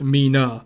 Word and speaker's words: Mina: favorite it's 37 because in japan it's pronounced as me and nana or shortened to na so when you put it together it'd be pronounced mina that's awesome um and